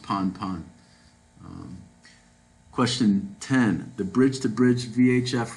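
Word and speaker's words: Pan-pan: The radio message urgently concerned with safety of a person overboard would be prefixed by the words B, pan pan, pon pon. It's pronounced pon pon.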